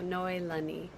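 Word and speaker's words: Noelani: And so noi again is mist and then lani is heaven. So noi lani just wanted to invite you all to say my name correctly.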